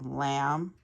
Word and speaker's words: lamb: also a silent k silent B ends in silent b lamb we don't say lamb and then crumb we